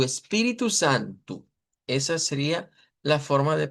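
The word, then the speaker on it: Espírito Santo: espíritu con el acento en la pi, espiritu y luego santu, u espíritu santu.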